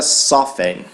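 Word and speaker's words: soften: ex-pms é outra palavra a palavra sofre sofre então sofre vem de soft perceba que se a gente tirar o e ter o n vai ficar a palavra soft que daí o pronuncio o tenete significa macio e suave só que quando a gente transforma em verbo a gente coloca o e no final e aí a gente não pronuncia mesmo ter por isso que a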